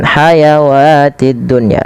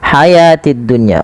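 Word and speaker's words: الحياة: Jangan kita baca dengan hayawatid dunya, tapi dia di sini kita baca hayatid dunya. Wawnya dianggap tidak ada, alifnya alif kecil menandakan ia panjang. Maka hayatid dunya.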